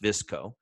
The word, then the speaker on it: VSCO: familiar with the company it's vs co but it's pronounced visco won't we start with